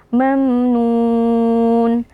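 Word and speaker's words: مَمْنُون: depannya itu kita tebalkan mamnun Nah di sini ada Mim sukun yang berjumpa dengan huruf nun hukumnya adalah izhar syafawi cara membacanya mim sukunnya dijelaskan tanpa berdengung mamnun terakhir ada Mad Arid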